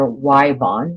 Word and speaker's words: Yvonne: places in the country, they pronounce that name either Wyvon, which in Oklahoma, if your name is Yvonne, spelled with a Y, it's pronounced Wyvon. Everywhere I've lived, one of my grandchildren's middle names is Yvonne, and it's spelled with a Y just like that. We say Yvonne.